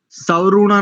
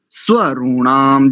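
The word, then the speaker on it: स्वरूणाम्: और दूसरा, दूसरी पंक्ति का तीसरा शब्द देखिए, सवरूणा नहीं बोलेंगे, सवरूणा नहीं, स्वरूणाम, जैसे आपने प्रस्व में किया, प्रस्व, ऐसे ही प्रस्व, ऐसे यहाँ पर स्वरूणाम, स्वरूणाम, ये उच्चारण।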